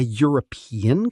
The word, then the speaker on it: European: A European country, because European sounds like it starts with Y.